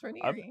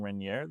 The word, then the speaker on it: Raniere: Yeah, it's Raniere. I've been saying Raniere this whole time. It's Raniere.